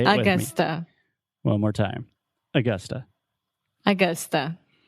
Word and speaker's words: Augusta: So we're talking about the schwa sound, o som do schwa. So most Brazilians will see this word and they want to say Augusta, like Augusto, but it's not. Augusta. It's Augusta. So say it with me Augusta.